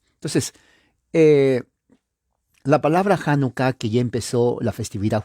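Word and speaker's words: Hanukkah: pero es con h janucá la H es J se pronuncia como la J entonces la palabra janucá que ya empezó la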